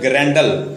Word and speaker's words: Grendel: Hero इसका ग्रैंडल है, उसका स्पेलिंग लिख लें GRENDEL, ग्रैंडल।